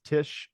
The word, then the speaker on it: Tich: And if you want to look, search on LinkedIn, that is Tish. Is spelled Tich.